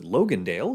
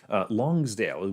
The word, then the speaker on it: Longsdale: the town of longsdale i almost pronounce it logandale which is a city out of nevada longsdale we start here and then we